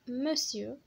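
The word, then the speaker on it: monsieur: ام او بوان هي مسيو، مسيو كتكتب مونسيور ولكن كتنطق مسيو، مسيو كيقولوا مسيو فلان مسيو فلان مسيو فلان يعني سيدي.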